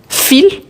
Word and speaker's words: fil: Donc ici c'est le fil et on prononce bien le L à la fin.